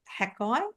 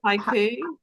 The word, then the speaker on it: haiku: And obviously the cadence of this poem is written to represent, is it Hakai? Is that how you say it? The style of poetry? Haiku.